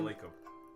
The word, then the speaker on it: Lacob: Joe Lacob. Got the general manager for the Warriors, Joe Lacob. Joe Lacob. I said Jacob Lacob.